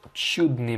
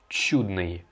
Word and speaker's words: чудное: Alors, toi, tu dis чудное, alors que non, il faut dire чудное. Je m'explique. Après la lettre tché, toutes les voyelles doivent être prononcées comme molles. Donc en fait, quand tu as un ou après un tché, eh bien il faut que ce ou tu le prononces you. Donc en fait, c'est comme si tu avais tché you.